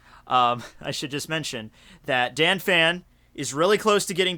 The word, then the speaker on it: Dannphan: Please tell me it is Dannphan. It is? Yeah. Are you just trying to make me feel good for saying it wrong for like 3 months in a row? It is Dannphan.